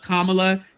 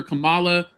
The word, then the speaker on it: Kamala: it was going because he never called Kamla Kamala. He calls her Camala.